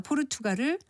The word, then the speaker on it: 포르투갈: 남유럽에 있는 나라 포르투갈을 포르투칼이라고 발음한다든지 쿠데타를 쿠테타로 그리고 타깃을 타켓으로 발음하려고 하는 이치와 같은데 모두 거센 소리로 발음하지 않는 것이 맞습니다.